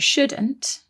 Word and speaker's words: shouldn't: One more thing about shouldn't and should is that they contain another silent letter, don't they? There is a silent L in there.